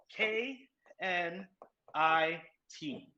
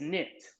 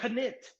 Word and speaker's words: knit: right but it's spelled k n i t now this is the consonant pair k n the word is knit which letter has no sound that's called our silent letter silent means quiet so